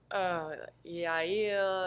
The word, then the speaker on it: Yael: Yael, Mhm. Yael, Yael, Yeah, all kinds of yeah. things. So it's actually, I think, once you actually look at it and hear that it's two syllables, Yeah.